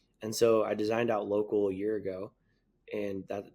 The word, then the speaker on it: LOCL: And so Local just launched a month ago on the App Store, and it's spelled LOCL, the community app.